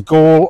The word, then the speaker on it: Galle: This is Gaul, or as I hear them calling out on the bus, Galley, Galley, Galley, Galley. So it must be pronounced Galley. Right, right.